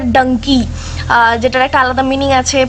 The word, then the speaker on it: Dunki: আমি যতদিন থেকে শুনেছি আমি এটাকে প্রোনাউন্স করছি ধুনকি বলে একটা গান ছিল না ক্যাটরিনা ক্যাপের তো ওই গানটাই প্রোনাউন্স করছি যেটা ধুনকি বাট এখানে এসে আমি জানতে পারলাম যেটা ডাঙ্কি যেটার একটা আলাদা মিনিং